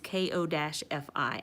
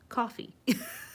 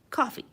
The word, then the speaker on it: Ko-fi: through uh it is ko-fi I know some people say Kofi but I'm going tell you it is pronounced coffee we are we are fixing this it is pronounced coffee we're changing the world